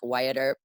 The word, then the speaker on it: Wyatt: Instagram, Jaime Wyatt is spelled like weird though. It's like Jaime Wyatt, like Wyatt Earp, like Sure.